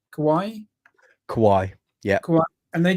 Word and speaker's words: Kawai: my eye on and that's a I can't pronounce it properly it's k a w AI Kawaii Kawai yeah Ka and they do like a